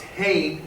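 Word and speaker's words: חֵן: Grace is pronounced hain, and it means favor.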